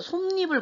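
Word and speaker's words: 솜이불: 첨가에는 니은 첨가가 있는데 자, 우리가 쉽게 얘기해서 솜니불 같은 경우는 솜 플러스 이불이 합쳐지면서 어떻게 돼? 발음은 솜니불이 되잖아요.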